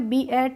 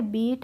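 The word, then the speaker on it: beat: हो गया ट तो बीई एटी को हमने बी एट नहीं पढ़ा इसको पढ़ा है बीट ऐसे ही एच एटी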